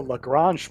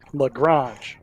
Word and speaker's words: Lagrange: It's called the Lagrange point for those people who don't know. Hey, I like that. Lagrange. Lagrange. If you forget, just think orange, but you spelled it wrong.